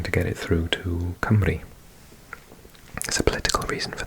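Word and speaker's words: Cymru: And if you're interested, um, we we are called Camry in Welsh.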